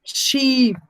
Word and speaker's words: sheep: long fish the second we have sheep so the sound is long let me listen to